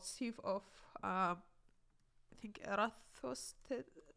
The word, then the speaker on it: Eratosthenes: using this thing called sieve of I think Eratosthenes. It's a little bit hard to pronounce, but it's sieve of Eratosthenes.